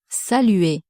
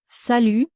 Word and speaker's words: salut: Sal and sal means hello or hi. It's an informal way to say hello. Be careful with the pronunciation. You don't have to pronounce the final T and the letter U